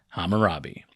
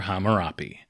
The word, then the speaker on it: Hammurabi: the main man himself, Hammurabi, or Hammurabi. A lot of this stuff has multiple transliterations and reconstructed pronunciations, and I'm just going to go with the one that I'm used to, so it's Hammurabi.